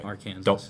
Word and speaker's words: Arkansas: So Arkansas.